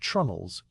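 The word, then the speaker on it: treenail: The wooden pins that hold the deck planks to the beams below are called tree nails, pronounced trunnels.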